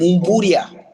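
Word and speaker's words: Mbudya: Budya and Budia. What? How you say it? Budia. Budia. So the M is silent.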